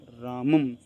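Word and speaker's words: रामं: और यह है ना अनुस्वार अनुस्वार का उच्चारण म की तरह होता है रामम अब देखो इस विसर्ग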